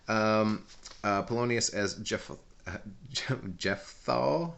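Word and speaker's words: Jephthah: uh Polonius as Jeff Jeff thaw not Jeff though that's a word that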